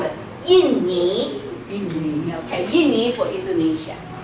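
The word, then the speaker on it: 印尼: Yinni. Yinni. Okay, Yinni for Indonesia. So it's not Indu, it's Yinni. Yin. Yinni. Okay? Yinni. Yinni. Okay. We're lazy. Inni. Everybody's lazy. Yinni.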